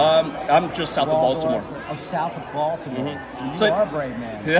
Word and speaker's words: Baltimore: in the middle of Baltimore is you got to learn how to say it right Balmer Balmer oh yeah that's exactly what